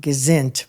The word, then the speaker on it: gesund: That's, well, how do you say gesinnt or gesund? Well, I grew up saying gesinnt. Right. But some people say gesund. Yeah, they say gesund.